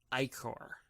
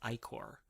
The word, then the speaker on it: ichor: a little bit, but apparently it is pronounced Ichor. It's an old Greek term or Latin term or whatever, the blood of the gods, and I guess it's pronounced Ichor, and I will never be able to say it that way. You're gonna hear me say Ichor because that's how it looks to me. I know it's the wrong pronunciation.